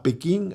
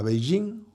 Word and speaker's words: Beijing: Manda al canciller Bustillo a Pekín, a Beijing, como se pronuncia ahora, el mismo día que llega en una visita de Estado del presidente Lula.